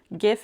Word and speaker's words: GIF: GIF is correct. Like gift, but no T. Jif is a brand of peanut butter in America, so it's not that one.